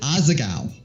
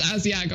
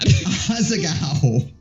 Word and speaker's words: Asagao: I'm sorry, how do you say it? Is it? Asagao. It's Asiago, I swear to God. Asagao.